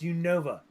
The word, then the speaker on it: Unova: I believe it's pronounced Unova.